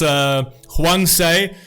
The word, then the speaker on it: 황새: Storks, pronounced hwangsae, in this context means those who are born with advantages.